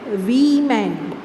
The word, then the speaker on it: women: WOMAN is singular, woman, and WOMEN is plural, and which is pronounced as we-man. We-man. Okay, so keep this in your mind. Okay, the singular is pronounced as woman, you, woman, and the plural is pronounced as women, women.